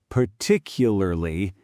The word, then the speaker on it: particularly: Particularly, the middle syllable compresses. This is why some words look nothing like they sound. Particularly is a great example. On paper, 6 syllables. In speech, 4.